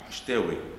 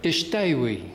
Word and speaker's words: Shatawi: Ishtawi. Ishtawi. Yes. Ah, okay, now I know the correct pronunciation, because I only see your name printed.